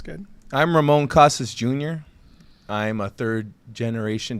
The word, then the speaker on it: Ramon Casas: Guest today is district one city council candidate Ramon Casas Jr did I pronounce that correctly correct yes you did uh